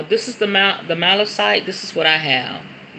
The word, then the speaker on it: malachite: amethyst malachite malachite okay so it's malachite malachite is the proper way to say it thank you bae look